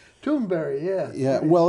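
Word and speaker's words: Thunberg: greta thunder tune burger actually if you hear her pronounce it it it sounds like it's very strange toonberry yeah yeah well it's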